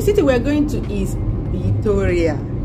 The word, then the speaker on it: Vitoria: The city we're going to is Vitoria. Yes, that V is pronounced with a B.